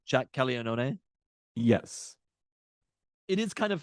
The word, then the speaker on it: Caglianone: That's how you'd pronounce his name, right? Jack Caglianone? Yes. It is kind of funny when you see the American version of it where it's like Caglione.